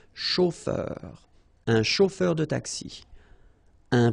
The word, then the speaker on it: chauffeur: chauffeur de taxi ok a u o r chauffeur un chauffeur de taxi